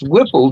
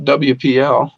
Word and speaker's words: Whipple: to jog beside this pronounce Whipple gym not wpl Chargers don't squeeze the